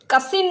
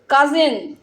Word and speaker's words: cousin: কাসিন নয়, কি উচ্চারণটা? কাজিন।